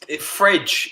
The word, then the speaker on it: Fred: yeah anyway he's our fred so yeah we support him he's uh he's fridge is apparently how he's supposed to pronounce it i did hear that